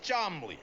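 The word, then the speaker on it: Cholmondeley: And this is my Uncle Chamandiali, pronounced Chomley.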